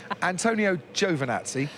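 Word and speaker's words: Antonio Giovinazzi: secondly would you maybe Antonio Jovan at sea that's how you pronounce it I checked with a man himself when we saw him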